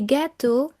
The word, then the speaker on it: gâteaux: So, for example, un gâteau, a cake, des gâteaux, cakes, un neveu, a nephew, des neveux, nephews. Notice that the X which forms the plural is silent.